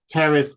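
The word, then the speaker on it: Pteris: Terrace I never know I presume you don't pronounce the p with that um Terrace cretica and that's elbow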